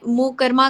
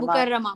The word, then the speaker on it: मुकर्रमा: Please pronunciation ठीक करें। इट्स जी जी, आई मुकरमा, बस, मक्का मुकरमा। मुकर्रमा, मुकर्रमा, श्योर।